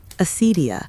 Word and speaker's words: acedia: Acedia, pronounced roughly acedia, was one of the great spiritual enemies of the medieval world.